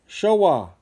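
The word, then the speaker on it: Shōwa: Sorry if I'm not pronouncing those properly. All right. Stop the presses. Taisho. Showa.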